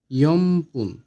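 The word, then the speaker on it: よんぷん: 4 minute হবে ইয়মপুন। Young পুন। এটা লেখার ক্ষেত্রে ইয়ংপুন হবে, কিন্তু উচ্চারণের ক্ষেত্রে হবে ইয়মপুন।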